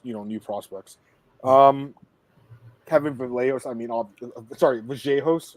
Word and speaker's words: Vallejos: Kevin Vallejos, Vallejos, right? Is that right? Yeah, and listen, last year in Contender, they said it right, and now they say it wrong. Now it's like Vallejos. No, it's Vallejos.